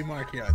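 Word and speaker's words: Marchion: I wonder you know, how Lula and Zine are gonna look next, or how Markion is. It's Markion. Watch the latest High Republic show. It's Markion. It was intended to be Markion.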